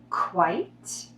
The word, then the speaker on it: quite: Quite, quiet. Quite is one syllable because it has a silent E at the end. It sounds like the color white with the k sound.